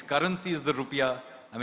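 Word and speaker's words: rupiah: Its currency is the rupia. I mean it's the correct actually the correct pronunciation rupia is yeah yeah the national symbol is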